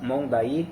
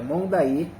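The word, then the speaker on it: Monday: lineal Itaipu tem as Cataratas mondai tá não é mond não é monde pessoal é mondai a pronúncia correta então tem aqui as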